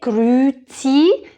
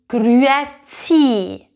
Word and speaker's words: grüezi: But if you want to sound like a real Swiss, make sure to say this letter. Don't say grüezi, say grüezi.